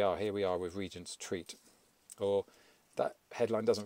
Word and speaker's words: Regent: Here we are with Regent's Treat. Or that headline doesn't really work because I'm reliably informed that it's pronounced Regent.